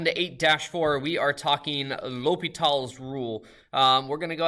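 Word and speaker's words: L'Hôpital: World by French nobleman Marquis De lopital that's how you say it or lopital and uh not actually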